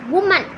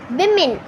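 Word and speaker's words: women: First one வந்து என்னதுன்னு பார்த்திங்கன்னா, உமன் அப்படின்னு தான் நம்ம சொல்லிகிட்டு இருப்போம். ஆனால் தப்பு, விமென் அதுதான் கரெக்டான கைஸ்.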